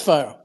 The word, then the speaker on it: 5ire: now the fire chain it's fire it's from pronouncing that right right fire yeah it's fire okay yeah now I